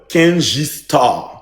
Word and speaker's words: Kendji: Prononcez bien mon nom. Uncle Kenj.